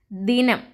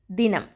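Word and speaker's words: ദിനം: Next one is dinam. Da plus e sound, di. It's a short sound. Di, na plus nam. Dinam.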